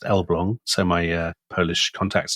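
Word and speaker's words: Elbląg: So, this is the Elblong canal. Um it's spelled Elag, but it's pronounced Elblong, so my uh Polish contacts tell me.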